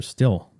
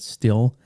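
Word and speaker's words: Stihl: But, you know, you you call it steel. That's funny. I' I've always called it still. I think your pronunciation is actually the correct one.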